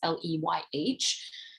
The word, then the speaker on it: Leyh: I'm not sure you pronounce her last name. It's Leyh.